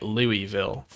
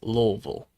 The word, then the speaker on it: Louisville: down in the south who pronounce at Louisville when it's Louisville.